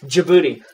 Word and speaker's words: Djibouti: Okay, well, Teresa, thank you for being specific, but I can't pronounce that, so it's cool. Thank you. So military deployment in Djibouti. Djibouti.